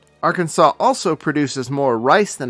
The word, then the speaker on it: Arkansas: is featuring arkansas in arkansas it's a felony to mispronounce the state name so remember it rhymes with santa claus arkansas was first discovered when